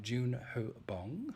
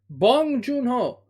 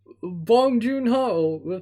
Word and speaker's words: Bong Joon-ho: talking about the South bong joon-ho that's how it's pronounced in korean korean film parasite directed